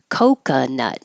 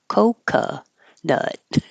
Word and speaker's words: coconut: is a burglar burglar coconut the first o is the O cuz it's stressed and the second o is an uh because it's not stressed so it's not Coco nut it's COC nut coca nut it's the